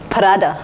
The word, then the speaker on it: Prada: shoes and so on the next brand is pronounced as parada Prada Prada is an Italian luxury house famous for